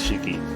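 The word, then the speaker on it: 四季: mention it so the characters for four seasons can be pronounced as shiki the characters in my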